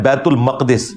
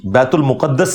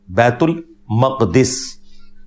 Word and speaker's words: बैतुल मक़दिस: ये लफ्ज है बैतुल मक़दिस, बैतुल मुक़द्दस लफ्ज नहीं है, बैतुल मक़दिस इसकी ट्रू प्रोनाउंसिएशन है।